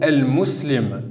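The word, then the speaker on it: المسلم: La lettre lem s'écrit et se prononce.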